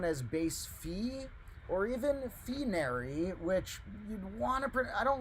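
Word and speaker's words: phinary: want to call it finery but the Greek letter is pronounced Phi Phi so base fee or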